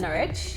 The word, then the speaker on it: Norwich: within Norfolk so as you've probably heard would pronounce that Norwich Norwich is in porridge I'm gonna guess the